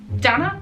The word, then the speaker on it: Donna: good evening good evening my name is Donna Donna it's pronounced like Anna will it be to